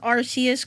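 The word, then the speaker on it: Arceus: Finally, somebody who pronounces Arus correct in my opinion to ever be born and thus the first Pokémon to ever exist.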